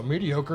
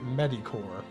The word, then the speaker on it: mediocre: kind of mediocre also mediocre is a word I learned by reading it and the first time I said it out loud I got laughed at because I pronounced it medicor true story true story